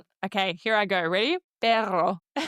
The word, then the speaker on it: perro: Perro. I'm still learning and sometimes I still feel like I'm goggling in my throat. But it's the blowing of the air.